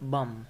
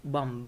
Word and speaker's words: bomb: Usually, b isn't pronounced when it occurs at the end of a word after m. For example, bomb. We don't say bomb, but bomb, right?